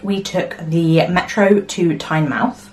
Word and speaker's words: Tynemouth: After breakfast, we took the metro to Tynemouth, which I think is how they say it, because everyone was saying Tynemouth, but it looks like I would say Tynemouth.